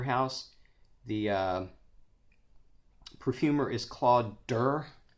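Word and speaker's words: Dir: The perfumer is Claude Durr. I say Durr. I heard somebody else one time say Deer, but it's Claude, D-I-R.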